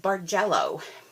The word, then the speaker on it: Bargello: share is the and I believe it's pronounced bar jello paper technique so this